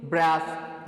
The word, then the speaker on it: breathe: She Drew in a shaking ब्रेथ, ये जो word है डियर स्टूडेंट्स, BREATH, इस और एक और वर्ड है PREATHE, इन दोनों की प्रोनाउंसिएशन डिफरेंट है। ब्रेथ, जो BREATH है इसको हम प्रोनाउंस करेंगे ब्रेथ, एंड देन जो दूसरा